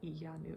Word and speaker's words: Iyanu: of whale williams and iyanu child of wonder yanu okay they have the pronunciation right here and those all also